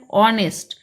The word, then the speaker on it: honest: be a why because h pronunciation is totally silent similarly our this is